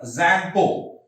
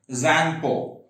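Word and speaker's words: Tsangpo: It originates in Tibet, and when it originates in Tibet, it's known as a Zangpo. What is the name of Brahmaputra in Tibet? Zangpo. T is silent. Okay, Zangpo.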